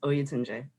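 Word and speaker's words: Oyotunji: you guys up in, I don't want to mispronounce this, in the African village of Oyutunji? Yep, well, it's Oyutunji.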